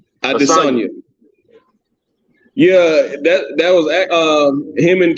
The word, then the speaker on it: Adesanya: Adesanya.